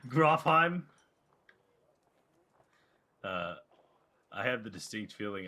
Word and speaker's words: Grofheim: And you're going to Grofenheim? You put a whole other syllable in there. Grofheim.